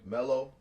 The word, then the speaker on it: Mello: And my boy Mello, you are a child. MELLO. It's alive like Jello.